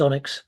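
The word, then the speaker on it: ONNX: framework which uses the this I think it's pronounced Onyx runtime, and this is useful because this is a framework that I think is used generally in machine learning.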